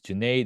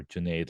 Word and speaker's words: Junaid: For example, when I was at Podcast Movement last week, I would share, hey, my name is Junaid. It rhymes with lemonade, or Junaid like lemonade.